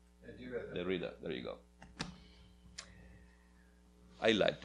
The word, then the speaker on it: Derrida: Derrida, there you go.